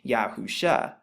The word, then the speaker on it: Yahusha: Now the shin in the Hebrew, which is what you find right here, it's pronounced like sh or sh, and the ayin is actually silent in the Hebrew, but it makes the sound, which is right there.